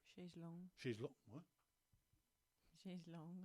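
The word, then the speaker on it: chaise longue: That kind of adult vacation where you just go and lie on a beach in a chaise lounge. Chaise lounge or chaise lounge? Chaise long.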